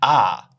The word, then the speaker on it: our: Quite often, you don't hear our, you'll hear ah. Sounds like A-R-E, ah.